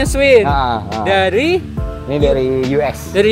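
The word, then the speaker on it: Schwinn: Oh bacanya Swin.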